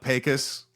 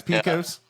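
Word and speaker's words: Pecos: things in Texas which I would say I'm pronouncing them correctly like uh pus that's Picos oh yeah uh what is it uh uh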